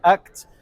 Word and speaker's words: ACT: le Donc prononce. on est Acte.